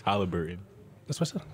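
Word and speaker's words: Haliburton: i said it right no you said hobbiton is halliburton that's what's up how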